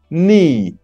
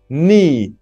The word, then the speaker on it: knee: can use feeds feeds knee knee the K is silent portrait portrait you have